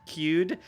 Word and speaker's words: Qud: says by the way i'm pretty sure it's pronounced cued i think that's how seth pronounced it in his video but i'm fairly certain he was wrong about that um i think if